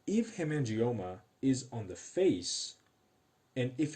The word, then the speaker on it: PHACE: I hope you're telling me that we are trying to rule out the face syndrome. Face syndrome, which is spelled like PHACE syndrome, is a genetic syndrome of unknown pathophysiology and genetics.